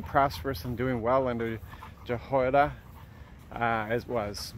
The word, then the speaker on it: Jehoiada: So we're continuing to read through the king's accounts and reading about Jehoiada. That's how I pronounce his name, the priest who brought up